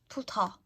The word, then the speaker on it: 부터: Spelt like this, with an aspirated T. 부터.